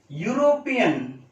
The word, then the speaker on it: European: European. European. Here also a European. A European. H silent is there.